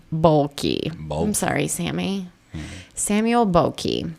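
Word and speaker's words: Boehlke: to say it bulky there's like an h and an l and an e b o e h l k e bokei I'm sorry Sammy Samuel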